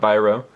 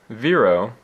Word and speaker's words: Vîro: That is pronounced Viro, not Viro. The little thing over the I makes it make an E sound, not an I sound.